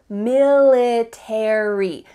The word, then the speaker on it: military: book about the military in American English you're gonna pronounce each of the final letters 8ry military in British